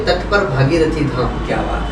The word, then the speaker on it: भागीरथी: महाराज जी थोड़ा प्रोनाउंसिएशन भागीरथी, हाँ, श्री भागीरथी धाम। श्री भागीरथी हाँ, धाम।